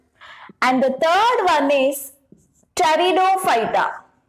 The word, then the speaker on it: Pteridophyta: And the third one is Pteridophyta. Pteridophyta. And here the P is silent. We call it as Pteridophyta.